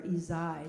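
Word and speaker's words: Ysaye: from issei Barnwell and her name is pronounced ISE or izai depending on how you feel um by the way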